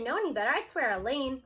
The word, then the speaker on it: Elaine: If I didn't know any better, I'd swear Elaine, rhymes with pain, just pulled an A.